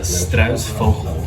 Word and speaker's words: Struisvogel: It's a Struisvogel.